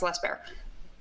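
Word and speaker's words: Les Baer: why am I a less bear person? Because he makes impeccable firearms. He's not. Some people that hold themselves out to be custom firearms are not. He machines his. It's pronounced less bear.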